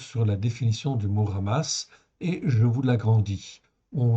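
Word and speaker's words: חמס: Ça se prononce ramasse, comme si c'était un R en fait au début.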